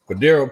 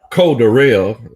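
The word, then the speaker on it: Cordarrelle: Cordero Patterson, he looked legit. Well, Coach Ronnie says Cordero. Wait. Huh? Cordero.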